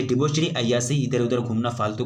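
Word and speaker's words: debauchery: ठीक है, the term क्या हो जाएगा, द टर्म डिबोचरी, आपको प्रोनाउंसिएशन सही से करना है, यहाँ आपको डिबोचरी लिख दिया गया है।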